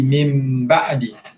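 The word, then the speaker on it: مِنْ بَعْدِ: Nun mati bertemu dengan ba, hukumnya ikhlab. Ikhlab, cara bacaan dia adalah dengan menukarkan sebutan nun mati ataupun tanwin kepada huruf mim. Jadi min ba'di jadi mim ba'di.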